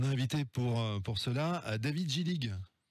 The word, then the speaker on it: Gillig: On a invité pour cela David Gillig. J'ai bien prononcé ce nom magnifique, Gillig. Très bien prononcé, Eric. Mais pas à l'alsacienne. Pas à l'alsacienne.